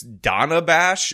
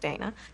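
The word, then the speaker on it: Dana Bash: question that was just asked by, apparently it's Donna Bash, which by the way, Kamala mispronounced, and she did it on the A,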